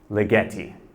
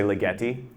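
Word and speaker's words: Ligeti: here yeah close so people will often mispronounce it it's a Hungarian name it's lietti so you want to say lietti yeah lietti like spaghetti right so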